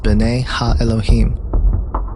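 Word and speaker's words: בני אלהים: of God mentioned here in the Hebrew is pronounced Bena Elohim the Septuagint which is the Greek translation of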